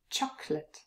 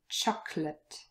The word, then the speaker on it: chocolate: a schwa and the last one chocolate there's a very short little schwa but usually we leave it out and it's chocolate chocolate so here from chocolate so the versions of